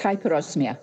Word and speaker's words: hyperosmia: much for joining me and joy did I pronounce hyperosmia right yes it's hyperosmia hyperosmia yes it is um a very rare